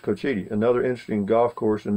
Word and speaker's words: Cochiti: go though don't worry preed a fog it's pronounced Cochiti that is it's pronounced Cochiti another interesting Golf Course in this community it